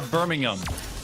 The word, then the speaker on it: Birmingham: I was told by production that I said it wrong. I'm so sorry. Birmingham, not ham.